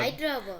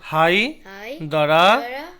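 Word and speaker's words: Hyderabad: তেলাঙ্গানা তেলাঙ্গানারা রাজধানী হচ্ছে হায়দ্রাবাদ হাইদ্রাবাদ হাই দ্বারা হাইদ্রা নয় কিন্তু হাই দ্বারা হাইদারা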